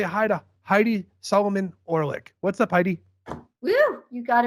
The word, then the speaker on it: Heidi Solomon-Orlick: guys are talking about everyone say hi to Heidi Solomon orick what's up Heidi you got it perfectly hian